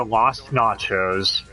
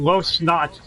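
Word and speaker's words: Las Noches: It's time to go to Lost Nachos. I think you said it wrong. I mean, Lost Noches. Yes, there we go.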